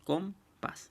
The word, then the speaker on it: compás: Entonces, estas palabras aquí son muy sencillas de clasificar. ¿Por qué? Porque ya sabemos que la sílaba tónica va a ser la última.